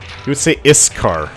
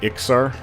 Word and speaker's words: Iksar: of speech impediment, so he would say Iskar instead of Iksar.